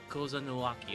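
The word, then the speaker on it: Kozama'uka: Kozanuaki, okay, that's how it's pronounced.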